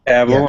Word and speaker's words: Cavill: Was it how you pronounce this? Cavill. Cavill.